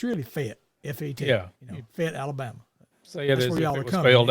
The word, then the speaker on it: Fayette: to come to Fayette Alabama so I mean it's spelled f-a-y-e-t-t fat yet but it's really fit yeah it fit Alabama failed f-e-t so yeah